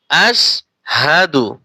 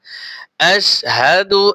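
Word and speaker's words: أشهد: এইখানে অনেকে আশহাদু আর ভুল করে পড়ে আশহাদু পড়ে। খেয়াল করে পড়বেন আশহাদু এখানে কিন্তু হা জবর হাই উচ্চারণটা কি হবে হা আসহাদু সাদু পড়বেন না আশহাদু আল্লা ইলাহা আশহাদু আল্লা ইলাহা ইল্লাল্লাহু ইল্লাল্লাহু ওয়াহদাহু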